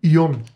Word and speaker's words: Ион: ион ако правилно напра най-накрая ударих това ударение но а и ион д срички и ион аа а